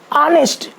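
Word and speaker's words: honest: पर हम article an का प्रयोग करते हैं ऑनेस्ट ऑनेस्टली ऑनेस्टी तो ओ प्रनंसीएशन ये वावेल के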